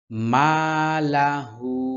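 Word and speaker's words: مَالَهُ: ইয়াহসাবু আন্না মালাহু এখানে তিন আলিফ টানতে হবে যেহেতু চিকন চিহ্ন আছে যেকোনো জায়গায় এরকম চিকন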